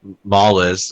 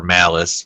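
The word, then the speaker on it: Mallus: kill um the demon mlles or or malice rather is how it's pronounced pretty much the show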